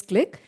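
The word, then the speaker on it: Qlik: very well-known company called click it is actually qli ik but we pronounce it as click uh they are the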